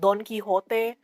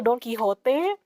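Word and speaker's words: Don Quijote: Yeah, it's named after Don Quixote, but like instead of X is a J, so it's Don Quixote. I guess it's still pronounced as Don Quixote, but when they bring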